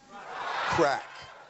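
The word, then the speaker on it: craic: xxx i'm pretty sure crack means what is what does that mean we're like it's so like cracking good fun or something like that but it's spelled c-a-r-a-i-c-r-a-i-c it's old irish i understand man you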